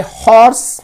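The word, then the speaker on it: horse: इस दूसरे एग्जाम्पल में हॉर्स में एच जो है वो प्रोनाउंस किया जाता है, लिहाजा यहां पे अ का इस्तेमाल हुआ.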